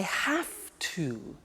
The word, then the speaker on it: have to: Now, did you hear my pronunciation? I have to. Notice I don't say V, I say F. Have. It becomes have to. Have to becomes in pronunciation have to.